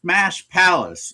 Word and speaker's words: Smash Palace: So, it's Smash Palace. The The emphasis is on the second word.